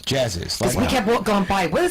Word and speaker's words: Jazziz: It's pronounced Jazziz. Jazziz.